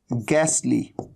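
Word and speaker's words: ghastly: एक तरीका होता है गैसली, तो आप देख रहे हैं एच का तो साउंड है ही नहीं, ह का तो साउंड ही नहीं है।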